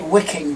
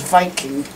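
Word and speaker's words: Wiking: it's plastic Sayes 540 in English it would say wicking but as it's made in Germany I'm going to guess that's meant to be pronounced as Viking they that's how they pronounce their W's yeah I wouldn't be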